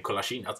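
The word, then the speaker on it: Kolašinac: been told by my Bosnian mate, the correct pronunciation of his name, Kolasinac, and Monreal are out injured, they will probably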